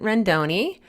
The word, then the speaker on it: Rendoni: I'm here today with Vincent Rendoni. Did I pronounce that right?